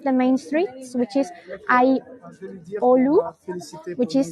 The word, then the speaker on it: Aiolou: And now we are in one of the main streets, which is Aiolu, which is spelled as in Aiolou.